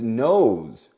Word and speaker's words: nose: Lee got on his nose remember the E gives its power to the O and it sounds like oh oh Lee got on his